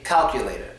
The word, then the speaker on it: calculator: So this word right here, there's many ways to pronounce it, but I would just pronounce it all and just say calculator. Calculator. Won't hurt, right? So calculator works. Or calculator. Calculator. Schwa the last one if you want to sound like a New Yorker.